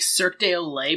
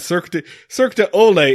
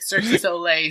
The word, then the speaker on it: Cirque du Soleil: Professional movers make Cirque du Soleil performers look like absolute fucking punks. Cirque du Soleil, my friend. Cirque du Olay is a circus that comes to your house